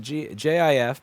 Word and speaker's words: GIF: It's pronounced JIF per the original CompuServe documentation.